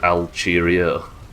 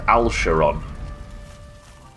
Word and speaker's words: Alcarion: It's pronounced Alcheron. Most people outside of the US pronounce it like you do.